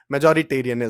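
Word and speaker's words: majoritarian: क्या होता है भैया पहली बात तो इसको प्रोनाउंस कर लेना वरना क्लास में पढ़ रहे होगे तो इस इज्जत का कचड़ा हो जाएगा क्योंकि शुरू में तो प्रोनाउन प्र प्रोनाउंस ही नहीं हो पाता ठीक है मेजो मेजॉरिटेरियन यही यही सजने लगता है ठीक है एक बार अच्छे से मेजॉरिटेरियन ठीक है अब पावर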